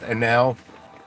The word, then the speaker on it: Anel: I'm sure the dude was Bosnian and it's pronounced Anel. But in these parts we say anal.